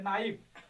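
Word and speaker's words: knife: ठीक है, जैसे नाइफ देखो, के एन आई एफ ई, तो के नहीं पढ़ा जाएगा, यहाँ से पढ़ा जाएगा नाइफ, यन आया है, वावेल आया है।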